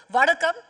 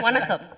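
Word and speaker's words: வணக்கம்: First up, Vadakam. Am I saying it right? Absolutely. Vanakkam. Vanakkam.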